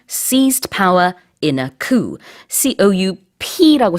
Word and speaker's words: coup: C-O-U-P라고 써요. 발음은 이제 coup라고 하지만 이게 바로 쿠데타입니다.